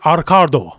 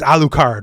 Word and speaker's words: Alucard: Yeah, because like, when they say in Japanese, Arcardo, right? Like, because they can't do L's. So, like, phonetically, they're saying Arcard. So, like, they're trying to argue his name's fucking Arcard when Dracula backwards is Alucard, right?